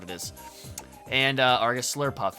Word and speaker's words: Slurpuff: just sworlex or a swirl puff i forget which what are you actually swirl puff that's what it is and uh argus slurpuff is the correct pronunciation of that not swirl and then we have